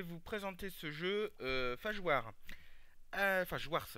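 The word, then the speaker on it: Phage Wars: Fajwars, pardon, c'est, oui, le S, enfin, se prononce.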